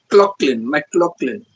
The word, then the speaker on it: McLaughlin: Laugh is pronounced like clock, McLaughlin.